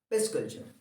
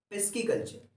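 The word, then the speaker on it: pisciculture: पूछा जाता है जनरली, जिसको हम कहते हैं पिस कल्चर। क्या? पिस्की कल्चर। क्या कहते हैं उसको? हम पिस्की कल्चर कहते हैं।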